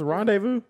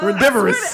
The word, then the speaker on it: rendezvous: How did you just pronounce Rendezvous? Rendivorous.